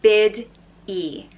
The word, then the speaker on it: Biddy: Orla next up is Biddy which is pronounced bid e busy and the name